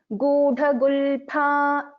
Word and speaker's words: गूढगुल्फा: Just in this, we pronounce this as Gudha-gulpha. We don't use fa here.